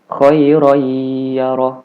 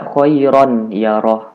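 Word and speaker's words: خَيْرًا يَرَهُ: hurufiah contohnya Khoiroh iyaroh Jadi dibacanya khoiroyyaroh Bukan dibaca choiron yaroh Bukan dibaca seperti itu Hai Jadi kalau Khoiron itu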